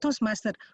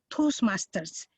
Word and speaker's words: Toastmasters: Like Toastmaster, we are not Toastmaster, we are Toastmasters. Even for singular, we use behind the Toastmaster word. It's one word, Toastmasters.